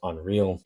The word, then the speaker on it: UNRL: Know once again on a weekly basis I remind you guys I do know it is pronounced unreal and check them out all over social media, Facebook, Instagram, uh Tik Tok, LinkedIn, all that stuff.